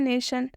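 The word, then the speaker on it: nation: अ से हो जाएगा देखिए कैसे हो रहा है हम इसे क्या लिख रहे हैं हम इसे लिख रहे हैं नेशन नेशन ठीक है ये देखिए एन के लिए ना यूज हो रहा है और ए के लिए एक ही मात्रा यूज़ हो रहा है ठीक है और टी के लिए क्या यूज़ हो रहा है टी के लिए आधा श टी के लिए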